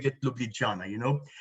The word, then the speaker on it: Ljubljana: So I researched it, and it seems it's pronounced Ljubljana. It's not Ljubljana, but perhaps Katya later on will tell us the real and the most correct pronunciation.